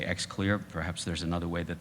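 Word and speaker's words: Xlear: take a spray called X clear x le AR just pronounced I say X clear perhaps there's another way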